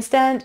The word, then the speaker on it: stand: Stand произносится без придыхания, потому что даже если там, во-первых, он без ударения в данном случае, но даже если бы он был под ударением, вот эти ПТК, если перед ними стоит звук С, то это произносится без придыхания, потому что С уже достаточно сильный.